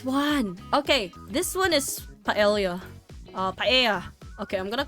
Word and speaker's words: paella: Okay, this one is paella. Paella. Okay, I'm gonna call it paella because that's how I pronounce it.